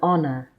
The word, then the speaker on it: honor: An is used if the noun following it starts with a silent H. Examples: an hour, an honest woman, an honor.